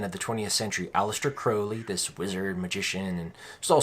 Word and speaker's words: Crowley: he's usually called alistair crowley but it's actually pronounced crowley not that that matters he was the most